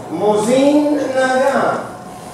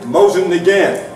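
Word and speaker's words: Mosin–Nagant: In the books, they explain it's Mosin Nagant. You got to do it nasal at the end, which I'm going to screw up. Mosin Nagant. So we will use the average American Mosin Nagant.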